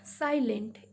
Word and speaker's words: silent: Then silent. S-I, I is sounded here as I.